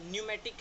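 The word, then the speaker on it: pneumatic: ऐसे ही न्यूमोनिया है या न्यूमेटिक है, तो न्यूमोनिया भी PN से स्टार्ट होता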